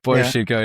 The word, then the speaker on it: Bo Schembechler: Bo Schembechler, yeah.